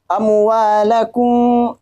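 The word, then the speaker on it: أموالكم: Amwalakum ada mim bertemu dengan ba, maka disebut dengan ikhfa syafawi. Nah, cara bacanya yaitu tanpa mendekatkan kedua bibir, tanpa dirapatkan.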